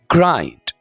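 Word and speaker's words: grind: the teeth कहते हैं इसको ग्रंड नहीं बोलना ग्राइंड ग्राइंड the teeth ग्राइंड द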